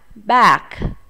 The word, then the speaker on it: bag: Túi là bag, bag. Có chữ G ở đằng sau, chúng ta cũng phải bật hơi chữ G này nhé.